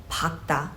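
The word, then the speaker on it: 밝다: though this has a double final consonant is pakta i only pronounce the latter which is kyok in this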